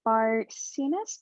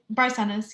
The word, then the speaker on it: Barcenas: panelists so um uh chelsea bartiness did i pronounce that correctly hi barcenas yeah okay awesome so um